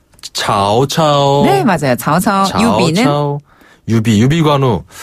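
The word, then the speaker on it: 曹操: 발음하면 였죠 산구네 그리고 우리가 조조 배웠잖아요 조 발음은 차오차오네 맞아요 오오 유비는 유비유비 관우 자 리우베 그렇죠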